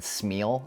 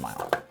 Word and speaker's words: smial: And yes, it is pronounced Smial. I know in Rings of Power Season 2, they said Smeal. Is really weird. It made me, ugh. Yeah, so Smial. It's pronounced Smial.